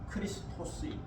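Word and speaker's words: Χριστός: 영어 발음으로는 크라이스트, 라틴어 발음으로는 크리스투스, 그리스 헬라어 발음으로는 크리스토스, 예수스 크리스토스.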